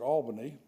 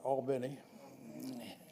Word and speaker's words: Albany: according to this poll I would pronounce it Albany but they I think they call it Albin and maretta is number